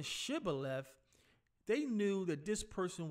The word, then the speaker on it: Shibboleth: the ephraim eye to see if they could pronounced his word if they pronounce the word Cybil F and mispronounced it I started I started saying Shibboleth they knew that this